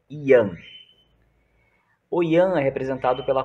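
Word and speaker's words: Yang: Young mas em em mandarim hoje do final não se pronuncia então o correto é Ian oi oi Ana representado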